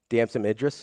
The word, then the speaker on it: Damson Idris: Damson Idris?